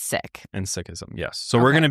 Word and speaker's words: Sikhism: I've always heard them just pronounced as Sikh. That's how like 99% of people pronounce it, Sikh or Sikhism. However, if you talk to somebody who's an actual Sikh, they say it's Sikh, not Sikh.